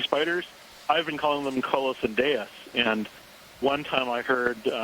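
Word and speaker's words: Colossendeis: giant um sea spiders i've been calling them carlos and deus and one time i heard mary's um wixton call them colossende and apparently that's how you say is d-e-i-s is silent uh but you know who knows so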